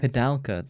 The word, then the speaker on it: Koudelka: is Koudelka, and I'm only going to say this once. Koudelka, so that's how we don't pronounce forget.